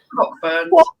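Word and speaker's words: Cockburn's: Is that the one that's spelt like something else, but it's pronounced Coburn? Yeah. Cockburns.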